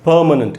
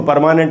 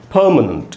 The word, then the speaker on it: permanent: इसलिए इसको परमानेंट नहीं बोलना है, हिंदी में लिखा उच्चारण दोस्तों। प में भी मैंने इसके सामने 2 डॉट्स डाल दिए, इंग्लिश वाले डॉट्स, और इसी को मैंने अंडरलाइन किया, यहीं पर स्ट्रेस है, इसको बोलेंगे परमानेंट।